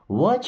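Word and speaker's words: watch: या दौड़कर छिप जाओ वच योर ब्रदर्स वच मीस देखो टी साइलेंट है यर मीस अपने ब्रदर्स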